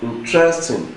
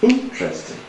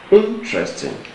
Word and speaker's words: interesting: pronounce the word is it interesting if you pronounce it interesting then it has stress on the second level too but the correct pronun pronunciation of the of that option C is interesting interesting that the stress is on the first Cil